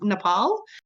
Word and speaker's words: Nepal: And so I often refer to Nepal or as they call it Nepal. So just so anyone knows, it is actually pronounced Nepal.